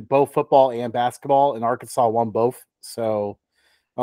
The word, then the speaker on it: Arkansas: interesting and next up and I know it's pronounced Arkansas but our favorite way to say it is